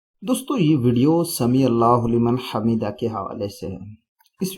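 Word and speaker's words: سمع الله لمن حمده: اس کا تلفظ کیا ہے، تو اس کا تلفظ یہ ہے کہ سمیع اللہ لمن حمیدہ، یہ اس کا درست تلفظ ہے، اس طریقے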